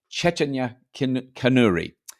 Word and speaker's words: Chaitanya Kanuri: I'm going to say her name correctly now Cheta canri who works for the um wri India which